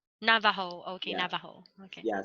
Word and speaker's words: Navajo: yeah Navajo, like I don't know how to pronounce it yeah properly. they call them Navajo. Navajo, okay, Yeah, Navajo, okay.